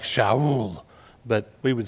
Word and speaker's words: Shaul: His Jewish name would have been pronounced something like Shaul, but we would say Saul.